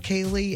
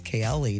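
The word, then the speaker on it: Kaeli: You don't think it's Kle, do you? No. I think you're right. It's Kaye.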